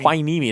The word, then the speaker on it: Hueneme: keep hueneme are you serious yeah I need my knee me it sounds a wine hueneme hosting Rosemont both